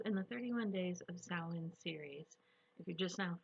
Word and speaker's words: Samhain: might be asking yourself who the heck is sam hayne don't worry it's a running joke in the pigging community hi i'm molina co-owner